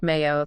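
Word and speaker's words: Meiyo: Mayo, pronounced Mayo.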